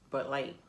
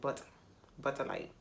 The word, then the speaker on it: Bud Light: Now I can say it right. It's Bud Light. But back then, when I first started, I was saying Butter Light.